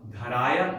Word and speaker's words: yupadharaya: Okay, it's not ni, yupa, dharaya. No, first syllable is dha, long. Next syllable is short, ra, dharaya.